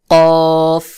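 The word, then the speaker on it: قاف: কফ, ক, কফ জিহ্বার গোড়া ঠিক তার বরাবর উপরের তালুর সঙ্গে লাগাইয়া শক্ত করে গোল মতো করে আওয়াজ উচ্চারণ হবে, যেমন কফ, কফ। কাফ, কাফ কফ শক্ত করে উচ্চারণ হবে আর কাফ পাতলা করে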